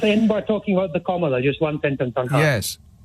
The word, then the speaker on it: Kamala: point is this seriously comma which is how you pronounce it in Hindi it means the orange